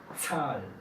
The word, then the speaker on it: Zahl: La Z suena un poco más como TS. Medizin. No escucho. Medizin. Zahl.